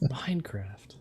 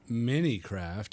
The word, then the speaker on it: Minecraft: it's not Minicraft; it's Minecraft. Yeah, really see. emphasize the craft.